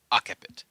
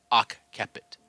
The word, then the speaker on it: occiput: So, I would immediately think of this as occiput. That's my immediate thought for pronouncing this word. Though I have taken a look at my Latin books, and I believe it should be occiput, pronouncing it like that. Like, one of the examples that is given is bookkeeper, similar to that.